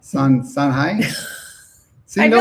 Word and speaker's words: Sangay: Somebody says it's pronounced Sangay. Sangay. Oh, gracias. I'm assuming it's Sangay. Sangay? Which syllable has the accent? Oh no, they said soft G. Sanhai. Sanhai.